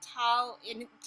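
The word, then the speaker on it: tala: And the tal, right? No, you don't pronounce the last A, so Tal.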